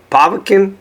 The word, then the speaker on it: Povetkin: But you've been in the ring with Derek Rossi twice, Dominic Gwynn, Kelvin Brock, Alexander Povetkin, is that how you say his name?